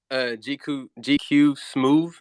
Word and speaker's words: GQSMOOV: How do you pronounce that? GQ smooth.